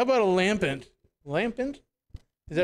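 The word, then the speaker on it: Lampent: Okay, how about a lampant?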